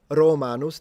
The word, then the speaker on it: Romanos: Uh if you say populus it's the tree but this is supposed to be pronounced romanos. The o is also supposed to be long.